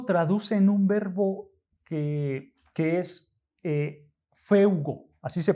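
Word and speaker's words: φεύγω: en el griego traducen un verbo que es feugo, así se pronuncia en griego, feugo.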